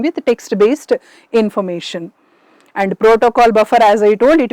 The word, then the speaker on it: protoc: using Proto stands for it is not actually Proto I should pronounce it as protoc C stands for protocol